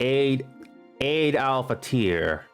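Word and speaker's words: Eid al-Fitr: Oh, it's pronounced Eid al-Fater.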